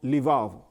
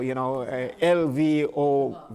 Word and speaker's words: Lvov: He came from Lvov. My pronunciation, so L-V-O-V, Lvov, okay.